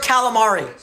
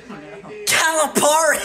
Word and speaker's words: Calipari: already or no say calamari say the word calamari say it think that's how you pronounce then how do you pronounce it Calipari you don't even know but I call him